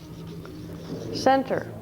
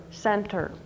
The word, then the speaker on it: center: The word here, center. Got E in the closed syllable. It says eh. This E is not a closed syllable, it's a vowel R syllable. It says center.